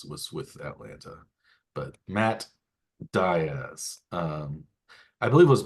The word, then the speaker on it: Diaz: with Atlanta but Matt Diaz um I believe it was Bob Davis I remember pronouncing Matt Diz very emphatically as Diz uh when he was